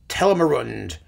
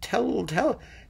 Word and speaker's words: Telramund: Oh, Christa Ludwig is a fantastic Ortrud, and Fischer Dieskau as Tellermund. I've never pronounced that right. Telramund. Yeah, Telramund.